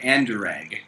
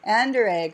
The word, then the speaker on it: Anderegg: asked you to pronounce it so could you pronounce it for us sure anderegg anderegg okay so a little bit similar to mine